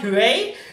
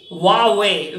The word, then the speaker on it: Huawei: yes okay very tricky it's not hooray it's simply Huawei very tricky how do